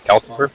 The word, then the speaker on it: Calcifer: Am I pronouncing it right? Calcifer.